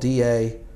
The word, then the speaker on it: Dalat: It's spelled D-A-L-A-T, I believe.